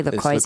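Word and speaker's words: LaCroix: I line up laqua they're actually lro even though I like laqua it Rhymes yeah but I line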